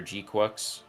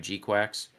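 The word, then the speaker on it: GQuuuuuuX: of the designs for gqu and I'm saying it like that cuz apparently that's how they pronounced it when I saw the movie I could have sworn I was hearing G Quacks still but I'm always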